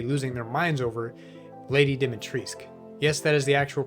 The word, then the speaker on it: Dimitrescu: their minds over lady dimitrisk yes that is the actual pronunciation the u at the end is silent apparently numerous weapons and items